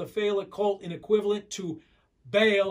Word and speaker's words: Baal: cult in equivalent to baal or bowel is how sometimes you pronounce it which means lord many